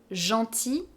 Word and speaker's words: gentil: "GROS", It's the same for instance with " GENTIL", "GENTILLE", "GENTIL" masculine, we don't pronounce the final "l", "GENTILLE", we do hear